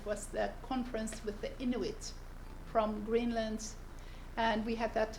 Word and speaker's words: Inuit: So Inuit. Inuit.